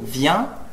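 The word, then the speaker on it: viens: En francés, cuando digo vient, que se escribe V-I-E-N-S, mi profesor me dice, no he escuchado el S.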